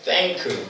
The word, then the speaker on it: thank: TH 발음 잘해야죠? Thank, 그죠?